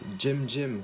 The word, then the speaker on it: Cem: Alors premièrement, il y a une petite chose qui m'intrigue, c'est le nom de ta chaîne, donc, qui s'écrit C-E-M, mais qui se prononce Jem.